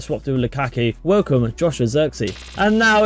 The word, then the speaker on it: Zirkzee: We've had a stormer here in Joshua Zirkzee there. That's how you pronounce it right there. Zirkzee, I presume, from Bologna right here.